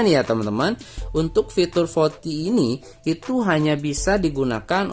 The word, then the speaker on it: VoLTE: VoLTE dibacanya ya, VoLTE teman-teman, bukan VoLTE ya, VoLTE.